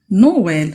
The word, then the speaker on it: noël: ac100 aux biens a dit donc noël donc je vais prononcer séparément les deux voyelles aussi pour maïs ça